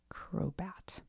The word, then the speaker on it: Crobat: Crobat.